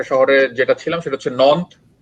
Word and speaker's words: Nantes: ওখানে একটা শহরে যেটা ছিলাম সেটা হচ্ছে নন্থ, ফ্রেঞ্চ উচ্চারণটা হচ্ছে নন্থ, কিন্তু বানানটা হচ্ছে NANTES, নান্তেস উচ্চারণ করে এরকম।